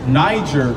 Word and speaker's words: Niger: Because it's spelled N-I-G-E-R. So we would say Niger kind of like now, right?